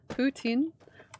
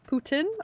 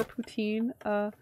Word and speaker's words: poutine: Poutine? Putin or poutine? Jesus Christ, what's that? Oh god. Okay. Poutine is how they say it in Quebec. Poutine is how everybody else in Canada says it.